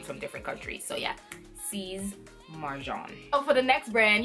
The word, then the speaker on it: Sies Marjan: it is s IES but you're pronouncing it like it has a Z at the end so with C's like Caesar Caesar Mar M AR and then the J and it's pronounced like a jean like a John that's the person John so it's C's Marv John sees Marjan sees mark John that one is pretty